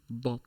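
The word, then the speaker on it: ضاد: Just remember, you are pronouncing a D this time, not an S. So instead of saying sod, you're saying bod.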